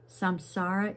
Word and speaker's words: samsara: Samsara is the round of birth and death, the world in which we live.